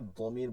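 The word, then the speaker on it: ضمير: কুল, হে নবী বলুন, হুয়া তিনি, এটা হচ্ছে জমির বা প্রনাউন বলে, আরবিতে জায়গায় দমির বলে, দমির, যেটাকে জমির উচ্চারণ করা হয়।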